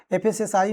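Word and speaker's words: FSSAI: एफएसएसआई में vacancy आती है, जिसे बहुत लोग लोकल लैंग्वेज में फसाई कहते थे, हालांकि ये प्रोनाउंसिएशन सही नहीं है, हम इसे एफएसएसआई ही कहते हैं।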